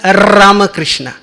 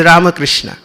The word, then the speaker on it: Ramakrishna: itself is difficult because the spanish rule says when r comes in the beginning of a word then you have to give array emphasis so how comes ramakrishna